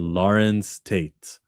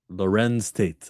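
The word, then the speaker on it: Larenz Tate: Join Nia Long and Lawrence Tate. I never heard of Don't Ever Wonder. Say his name again. Say his name again. Lorenz Tate. My mistake.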